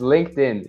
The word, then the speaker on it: LinkedIn: pronunciation rules for like for words that end in ed sometimes it's a t sound and sometimes it's a d sound so linked is pronounced much is like this linked in linkedin and then and then